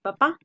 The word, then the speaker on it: papá: No es lo mismo decir papa que decir papá. Y aquí lo que marca la diferencia es el acento.